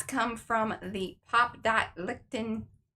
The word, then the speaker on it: Lichtenstein: And the dots come from the Pop Dot Lichtenstein. Lichtenstein. I'm just sure it's Stein because you pronounce the I, not the E. It's not Lichtenstein.